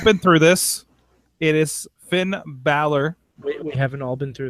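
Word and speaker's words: Finn Bálor: angle listen you've all been through this it is finn balor we haven't all been through this we have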